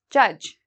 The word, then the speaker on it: judge: know the word judge we don't say judge okay we don't pronounce the d so just cross that off judge a lot of these